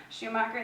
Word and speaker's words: Schumacher: Schumacher, I guess I don't know exactly how to pronounce his name. Schumacher, thank you.